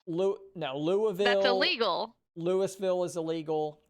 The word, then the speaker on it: Louisville: You have to say Louisville. I believe that's Louisville. Like you got to just move your mouth as little as possible. Louisville. You can't say Louisville. No, Louisville.